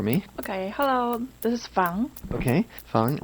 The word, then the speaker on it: Fang: Okay, hello, this is Fang. Okay, Fang. We would spell that F-A-N-G, but you actually go by what we would say, right?